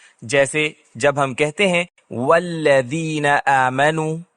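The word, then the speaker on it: والذين: کہتے ہیں والذین آمنوا، یہاں حمزۃ الوصل گر جاتا ہے، کیونکہ میں واو کا تلفظ کرنے کے بعد اسے براہ راست اگلے لفظ سے جوڑتا ہوں۔ والذین، ہم والذین نہیں کہتے، وہ غلط ہے، لیکن اگر میں اس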